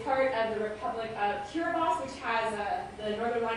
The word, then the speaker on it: Kiribati: And then just to orient you to the pronunciation, this is the Gilbertese pronunciation where your T's become S's, so it's Kiribati and Christmas.